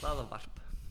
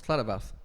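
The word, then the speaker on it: hlaðvarp: Hlaðavarp. Hmm? Hlaðavarp. What's Hlaðavarp?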